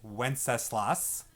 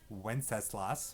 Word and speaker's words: Wenceslas: right now for good king wenceslas that is pronounced wenceslas wenceslas okay good king wenceslas sounds like this okay